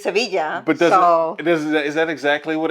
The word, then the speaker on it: Sevilla: maravilla, wonderful, rhymes with Sevilla.